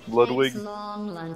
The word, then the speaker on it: Ludwig: Dude, apparently, this streamer, Ludwig, said, told the story of his childhood where he got mercilessly bullied because of his name, because it's French and it's pronounced Ludwig with a V.